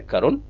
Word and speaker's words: Karun: और कभी आप आइए, मेरा नाम है करुण के आर यू एन करुण। अब आप कहेंगे इंग्लिश हिंदी में क्यों लिखा है क्योंकि मेरा नाम का जो उच्चारण है वो करुण है इंग्लिश इसमें फेल हो